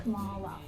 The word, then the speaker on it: Kamala: My name is pronounced Kamala.